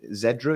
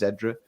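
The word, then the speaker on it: Xedra: was talking with them i'm not sure how you pronounce her name zedra it's x-e-d-r-a i think it's zedra on twitter last night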